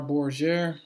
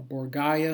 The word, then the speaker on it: Borgia: wikipedia a picture of cesar borger or borgaia and depending how you pronounce it um or borgia um that's him looks